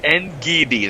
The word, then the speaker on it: Ngidi: Ngidi. That's the way to go. Thank you, Bear, for some pronunciation help for me.